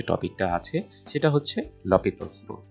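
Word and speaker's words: L'Hôpital: টপিকটা আছে সেটা হচ্ছে লপিতালস রুল বা অনেকে এটাকে লপিতালস রুলও বলে বা এল হসপিটাল রুল বলে আসলে এই লসপিতলস যেটা হচ্ছে সঠিক উচ্চারণ না সঠিক উচ্চারণ হচ্ছে লপিতলস এখন এই লপিতস রুলটা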